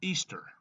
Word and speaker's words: Ishtar: Lucifer and the um this is Ishtar pronounced Easter Easter was originally the